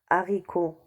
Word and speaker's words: haricot: dit le hibou handicap on dit le handicap haricots ont dit le haricot héros le héros hauteur